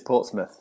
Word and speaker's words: Portsmouth: And fans can see you guys starting November 19th out in Portsmouth. Is it Portsmouth or am I putting the American accent on that? It's Portsmouth.